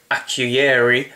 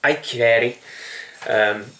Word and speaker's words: Akureyri: I would call it Akureyri, but it's Akureyri.